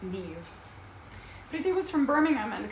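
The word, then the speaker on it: Niamh: nivadita NIV like the Irish name spelled n-i-a-m-h pronounced Neve everything was from Birmingham and had come up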